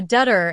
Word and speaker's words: debtor: R thein the alphabet B is silent it is pronounced as debt uh a debtor is maybe a person